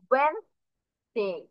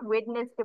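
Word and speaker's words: Wednesday: করবো না, এই যে এই ডি আমরা বাদ দিয়ে দিব, সরাসরি আমরা ডাব্লিউ ই এন, তারপরে যে এখান থেকে ই সরিয়ে এস কে গিয়ে ধরবো, ওয়েনসডে। মনে থাকবে সবার, কেউ কিন্তু প্রোনাউন্সিয়েশন কখনোই ওয়েডনেসডে বলবো না, কি বলবো, ওয়েনসডে।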